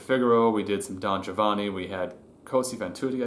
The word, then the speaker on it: Giovanni: The Western way in America, it tends to be Giovanni, and it's not. In proper Italian, it's Giovanni. Trisyllabic, not quadrisyllabic.